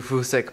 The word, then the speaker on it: Fusek: peters how do you say his name andrew fousek peters he's a wildlife photographer um i like